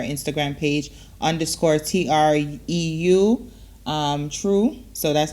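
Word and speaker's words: treu: check out her instagram page underscore t-r-e-u um true so that's how it's pronounced true so make sure you guys go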